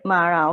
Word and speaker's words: Mara: a real one right with a long a so Mara okay this Mara means